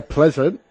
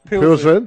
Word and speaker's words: Pilsen: Astra taking on Victoria Pleasant. Pilsen.